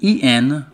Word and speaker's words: en: And EN pronounced en, as in Jenny.